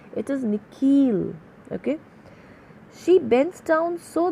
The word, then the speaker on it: Nikhil: The second part of it is longer, sounded like heel. So, how is the way that principal is pronouncing his name? It is Nikhil.